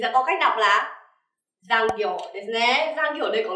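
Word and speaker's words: 残業: Mình sẽ có cách đọc là giang kiểu ですね.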